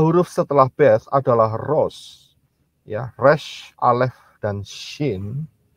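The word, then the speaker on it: ראש: Itu bunyinya, ya, pronunciation-nya atau pengucapannya adalah Rosh.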